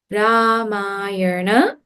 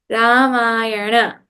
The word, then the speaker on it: Ramayana: From the top, Balaramaha, Narayana, Radha, Ganapati, Ramayana. Not from today, no one should say Ramayan. Ramayan. Ramayana.